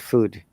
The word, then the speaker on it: food: They said good food. But in British English and American English, it's a bit longer sound.